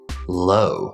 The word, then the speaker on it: low: this word is pronounced low, low. It's only one syllable. We have the clear L sound, la la la la la, followed by the long O sound in words like home, or boat, or flow, or toe. Low, low. Now I know this is confusing because you see OW on lots of different